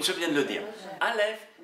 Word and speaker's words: Aleph: Aleph, qui ne se prononce pas, elle est muette.